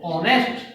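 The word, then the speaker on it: honest: होता है हा ओ एन ए एस टी हा साइलेंट होगा और इसका उच्चारण होगा ऑनेस्ट ठीक है इसी तरह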